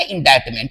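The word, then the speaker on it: indictment: ये वर्ड है इंडाइटमेंट। इसमें उच्चारण करते समय सी का उच्चारण नहीं होगा। इसका हम उच्चारण करेंगे इंडाइटमेंट।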